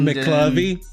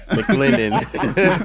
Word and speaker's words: McLendon: Not McClovey? No, not McClovey. Not McClovey. McLendon.